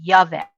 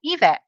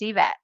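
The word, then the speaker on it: Yvette: but a lot of people will say yvet I don't know why that's how they see it I don't know but I tell them just pretend it starts with an E and then they pronounce it right they say oh evet and I said yes it's evat so um and people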